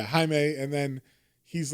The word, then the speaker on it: Jaime: welcome to the club, Jamie, or Jaime. And then, Jamie, Jaime. Yeah, it's spelled Jamie. I just read it like that. But yeah, Jaime.